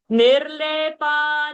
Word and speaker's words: निर्लेपा: So you should not say nirlepa, don't drag. Nirlepa. Finish up.